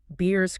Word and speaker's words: Beers: Beers Criteria, like the drink.